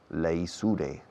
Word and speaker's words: leisure: Los británicos dicen leisure para el tiempo de ocio. Leisure se escribe. Leisure. Los americanos dicen leisure. Pero je.